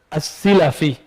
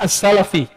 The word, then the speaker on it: as-Silafi: Lalu berpindah lagi ke, ini bacanya bukan selfie ya, Abu Tahir Ahmad bin Muhammad bin Ibrahim As-Selfi. Bukan. Bacanya apa? As-Silafi. Bukan As-Salafi. As-Silafi.